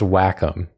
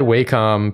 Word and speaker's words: Wacom: right is it pronounced Wacom or Wacom it's pronounced Wacom which sucks but it's true we said Wacom forever and then we got a sponsor deal